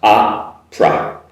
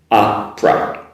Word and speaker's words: opera: Also with the next word, opera. It's basically two sounds, opera, opera. So the P-E-R-A, but there's actually not much of a vowel sound in there, so just make it a pra, opera.